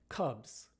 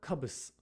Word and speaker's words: cubs: a different phenomenon here the S at the end of the words is pronounced more like a z than an S Cubs not cubus right Cubs not cubus right the SES some voice because the preceding sound BBB is a voiced consonant so we say Cubs Cubs